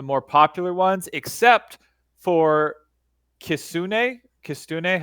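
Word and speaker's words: kitsune: And as well we're doing some of the more popular ones except for kisune. Kristune. How do you pronounce that?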